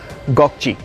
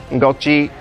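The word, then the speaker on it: Gökçe: a more difficult aim that you need to pronounces goji goji loves octoroon so this these are that some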